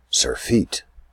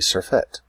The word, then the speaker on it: surfeit: I said surfeit, meaning a great deal of it, more than you need. It's really surfeit.